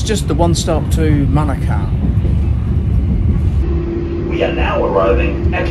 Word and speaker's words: Manukau: of this place, and it is Manukau, not Manukau. So it's a bit like Monaco, if you remember that.